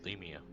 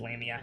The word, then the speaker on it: lamia: that's close but uh this is not a llama or lemia your pronunciation is lamia anyway salamander maybe